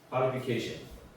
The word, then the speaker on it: qualification: 쉬 발음. 그러니까 쉰이 되는 거죠. qualification.